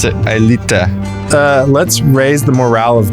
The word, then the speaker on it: Aelita: I pronounce it Aelita.